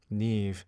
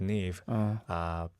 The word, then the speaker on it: NIve: So that kind of hit me, the word NIve. And sometimes you have to pronounce it as like a knife and Knife? Yeah, so, but we were like, knife sounds a little too close to naive.